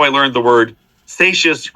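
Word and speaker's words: Seixas: I learned the word satious rhymes with gracious okay uh so thanks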